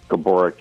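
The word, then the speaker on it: Gaborik: You're I mean, celebrities, everything where I I believe the the correct pronunciation is Marian Gabbor. Gabboric. Yeah, that's what I heard, too. But he allowed everyone to call him Gabber.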